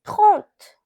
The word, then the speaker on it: trente: Now 30, it is pronounced as trente.